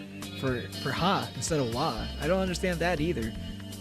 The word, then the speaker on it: wa: It's not Watashi that's spelled with the ha character. It's wa.